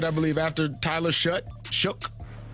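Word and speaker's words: Shough: Shook. I can't even say his name. Well, I don't know. It looks like show, but I believe I believe it's pronounced shook.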